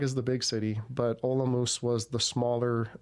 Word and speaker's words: Olomouc: My favorite was in Olomouc. Some people pronounce it Olomouc, but it makes the people from Olomouc makes their ears turn.